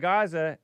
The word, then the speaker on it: Gaza: Clear out of Gaza. Anybody? Gaza. I like to say it correctly the way that the locals say it.